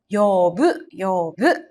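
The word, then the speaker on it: 呼ぶ: Ini juga sama ketemu hiragana, jadi dibacanya yobu ya.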